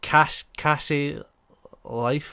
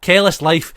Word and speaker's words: Careless Life: Cassie Life. What? Careless Life. Careless Life. That's it.